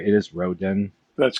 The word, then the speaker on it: Roden: Bill, I was pronouncing that name correctly, right? It is Roden.